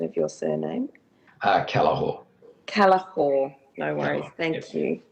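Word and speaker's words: Callachor: flexibility to respond thank you very much mr calico and uh could you just correct me in the pronunciation of your surname uh kalahor kalahor no worries thank you um thank you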